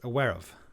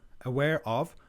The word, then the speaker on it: aware of: Aware of. Aware of. Aware of. The way we pronounce it kind of cut the O.